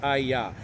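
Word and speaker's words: אהיה: Aleph, He, Yod, He, pronounced HAYAH. Just like the verb that the Jewish people use every day for the meaning of existence.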